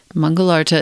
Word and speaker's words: Mangalartha: Mangalarta is spelled Mangalartha. Tara Mangalarta mantra.